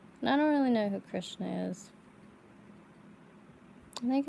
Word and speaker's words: Krishna: pretty because I'm not a good singer it's pronounced Krishna correct but yeah get him some clothes and